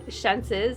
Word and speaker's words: Xenses: I always say it wrong. Xenses is how it's pronounced.